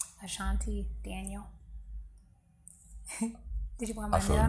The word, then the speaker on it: Ashanti Daniel: Ashanti Daniel.